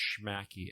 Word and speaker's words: Shmakee: pronounce it they're not quite sure but it's pronounced schmacky s-h-m-a-k-e we should do a jingle I know